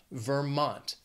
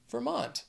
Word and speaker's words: Vermont: after that is Vermont also two syllables but the stress is on that second syllable Vermont Vermont next is Virginia three syllables